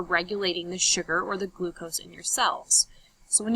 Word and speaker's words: glucose: And it gets broken down into the different macromolecules, including sugar or carbs, also called glucose. A little rhyme as if it rhymes with os, and it's gross, it's sugar.